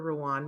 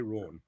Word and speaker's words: Ruan: first of all this it's Rau so it's it's rhymes with Sean so think of Sean and then say Ron okay Ron okay uh